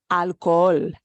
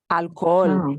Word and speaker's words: alcohol: a Spanish word so you know your English premium wants to say alcohol hall right but we need to pronounce that alcohol alcohol and we just draw out the oh because remember this is